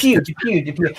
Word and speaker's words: Depwe: Is it Depwe? Yes. Depwe. I remember Pew Pew. There's Yeah.